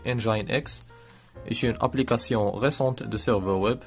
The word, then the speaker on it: nginx: apache un gain ni ganks prononcer engine ex applications récentes de serveurs